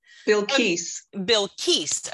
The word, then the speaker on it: Bilquis: Bilquis, I hope I got it right. Bilquis. Okay, Keese.